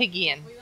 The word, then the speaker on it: Apigian: It's actually Armenian by background.